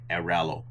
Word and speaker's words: Airalo: I can never pronounce that. It's Aralo.